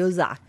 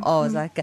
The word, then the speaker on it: Osaka: Ci ha insegnato le ragazze di Osaka, invece no, è Osaka. Perché gli accenti sono praticamente su ogni vocale. Allora, c'è l'accento lungo, che è appunto Osaka. È un... No, quello non è un accento, sono proprio 2 O.